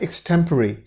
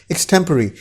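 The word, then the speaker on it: extempore: एक्सटेम्पोर गलती से बोल देते हैं इसको हिंदुस्तान के अंदर, इस तरह की प्रोनाउंसिएशन कर देते हैं, पर एक्चुअल प्रोनाउंसिएशन इसकी है एक्सटेम्पररी।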